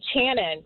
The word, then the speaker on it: Channon: your name Channon hey it's actually Channon so you got it the first time okay got it so